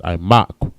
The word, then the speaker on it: imak: Valley in the Hebrew is imak. I, ma, and qua. Ma and qua connect. Imak. All right, next word we have is value.